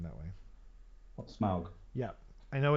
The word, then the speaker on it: Smaug: I don't know I know that Tolkien said Smaug or whatever but why did you say smart